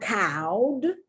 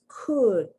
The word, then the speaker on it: could: at the pronunciation it's not cowed it's not cold it's could uh the short u sound could would very important